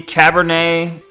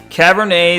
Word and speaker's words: Cabernet: The tea is silent because I think it's French. Damn. Wrong spelling. My bad. It's supposed to be Cabernet.